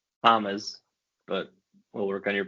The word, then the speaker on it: James: Hamez, but we'll work on your pronunciation.